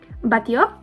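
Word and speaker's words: Batlló: Batio. When you see 2 L's in Spanish, you pronounce that like a Y.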